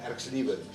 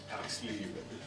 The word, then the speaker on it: Erxleben: de Swart, for helping us with the correct pronunciation of that surname, Erxleben. Erxleben.